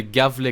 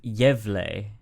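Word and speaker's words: Gävle: you pronounce pronation gav that sounds French yeev yev the yev goat yev it's a lovely boy it's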